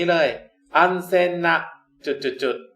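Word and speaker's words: 安全: คำ ว่า ปลอด ภัย ภาษา ญี่ปุ่น ออก เสียง ว่า อัน แซง นะ ครับ แล้ว จาก ตอน นี้ เลย uncen หนัก จุด ๆ ก็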